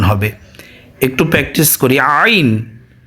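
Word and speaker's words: عين: ত জ আইন আইন হলকের মধ্যখান থেকে যেভাবে আমরা হা উচ্চারণ করেছিলাম সেভাবে আমরা আইন উচ্চারণ করব হলকের মধ্যখান তথা পুরুষের গলার ভাঙ্গা থেকে আর মহিলাদের গলার মাঝখান থেকে আইনের উচ্চারণ হবে একটু প্র্যাকটিস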